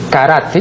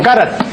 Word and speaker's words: karate: vez he dicho que la pronunciación de lo que aquí equivocadamente pronuncian karate no es karate sino karate carate no solamente porque así consta en el diccionario de la academia sio porque es inimaginable pues de acuerdo con la fonética japonesa que que vaya Pues